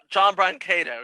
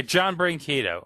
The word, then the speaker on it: Brancato: I hope I pronounce this right. John Brancato? John Brancato, yes. Yeah, John Brancato.